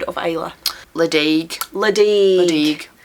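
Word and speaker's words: Ledaig: of sound of AA leig leig so that's a weird one where the D becomes a g which you wouldn't know unless you'd heard someone say it because there are places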